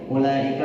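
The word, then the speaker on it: أولئك: Ya, selanjutnya adalah halaman 23 yaitu ulaika. Hati-hati u-nya dibaca pendek. Maksudnya wawu-nya tidak usah dibaca. Wawu yang tidak ada sukunnya dianggap tidak ada.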